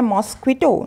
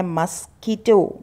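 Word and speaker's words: mosquito: आपको बोलना है मॉस्क्विटो, नहीं, आपको पढ़ना है मस्कीटो, मस्कीटो।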